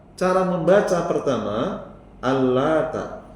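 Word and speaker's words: اللات: Al-Lata, cara membaca pertama, Al-Lata, huruf taknya takhfif, tanpa ditasydid. Takhfif itu ringan, tipis, ya.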